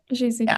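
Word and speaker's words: Gesù: Yeah, Jesus.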